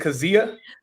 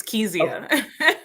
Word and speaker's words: Kezia: Is it Kazia? No, it's Kezia.